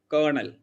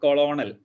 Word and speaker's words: colonel: a kernel or pint you usually pronounce as kernel it is not coronal it's kernel pint it is not